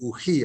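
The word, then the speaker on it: οὐχί: Sí, se dice nai, no, se dice u, o enfáticamente uji, acento en la iota que no pasó al PDF.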